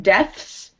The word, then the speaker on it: deaths: So you want to say the S, not so much the TH.